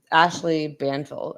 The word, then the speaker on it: Ashley Banfield: Well, it says up here, Ashley Banfield, I believe is how you pronounce it.